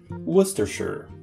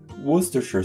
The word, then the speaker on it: Worcestershire: Put Worcester and Shire together, you get Worcestershire. Worcestershire sauce.